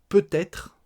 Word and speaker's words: peut-être: Peut-être, on le prononce peut-être. P-T apostrophe, hein, admettons, peut-être.